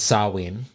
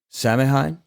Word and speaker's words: Samhain: I know it is, as Suzanne says, Samhain, which is usually most people pronounce it Samhain.